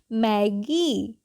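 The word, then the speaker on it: Maggi: sound लेकर long sound okay क्या हो जाएगी मैगी C double O एल आई क्या पढ़ेंगे इसको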